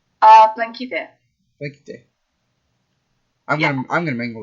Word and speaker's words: Plankyte: Uh, blinky day.